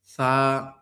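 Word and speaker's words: ث: আমি যেভাবে পড়ছি সা দেখেন জিহ্বার আগা লাগাইতে হবে এবং হচ্ছে দাঁতের যে উপরের মাড়ির দাঁতের যে আগাটা আছে এখানে লাগাইতে হবে।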